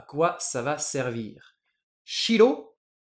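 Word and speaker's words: 白: Et blanc, je vais le dire shiro.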